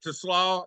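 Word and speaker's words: TeSlaa: about look man Isaac to slaw he called him to slaw so I'm gonna take Sam's words that's how you pronounce that name Phil I had no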